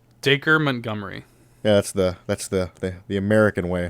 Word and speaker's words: Dacre Montgomery: Yes, because it's so the acre part is pronounced like acre, and if you're in the UK you would say acre, but in in America we say acre.